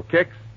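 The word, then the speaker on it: Kix: All right, ask your grocer for Kicks tomorrow morning. That's spelled K-I-X, Kicks.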